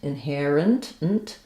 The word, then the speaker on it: inherent: It's a reduced vowel in this last syllable. So the IPA for inherent would be inherent. IPA is probably going to show it as a schwa. I think we say it in this case more like an I sound, inherent, or almost like no vowel there at all, inherent.